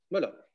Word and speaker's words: Müller: Müller. Mm-hmm. I was never sure of the exact pronunciation of that.